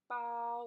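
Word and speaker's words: 包: example Bao Bao Bao if you say bow with the first tune long and flat oh and that means bag but if you say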